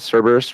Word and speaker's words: Cerberus: do you pronounce that? Cerberus, right?